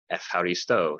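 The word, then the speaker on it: εὐχαριστῶ: Yes, the EU at the beginning of the word euphemism comes from Greek, but don't pronounce it you, ev or F. Eucharisto, thank you.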